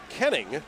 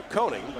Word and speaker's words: Koenning: And that is something that Vic, and I have to get this right, because we have two cousins who pronounce their names differently. Vic Koenning No, Koenning.